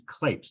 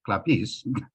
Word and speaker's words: Klapes: And actually, I should point out, my last name is Klapes, not Klapes, although in Greek it's Klapis.